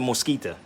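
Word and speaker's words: Mezquita: It's pronounced the Mosquita.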